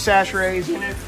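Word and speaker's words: Chachere: all with some Tony's sash raise you're wondering how to say it that's how you say it if you're from Louisiana disaster aid don't even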